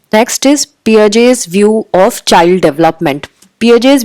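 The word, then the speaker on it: Piaget: सो पियाजे जो थे, इनका प्रोनाउंसिएशन आप गूगल भी कर सकते हो, तो इनकी स्पेलिंग अलग है बट we pronounce it इन a different way.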